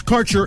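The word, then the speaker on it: Kaercher: cannabis Insurance Services is spelled k a e r c h e r that's carer insurance we have worked with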